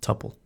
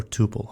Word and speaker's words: tuple: let's run this and notice the type is tupple or Tuple however you want pronounce it let's go back here and let's